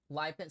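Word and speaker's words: Lipan: Lipen.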